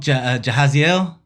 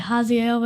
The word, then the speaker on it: Jahaziel: Jahaziel. Did I say it right? Kinda, yeah. Okay, how do you say it? Like Haziel, basically. Haziel. Yeah. So it's not a J, it's a Ha.